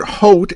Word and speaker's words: Haute: as in terra firma the second word Haute is pronounced with the AU making a long o sone sound like in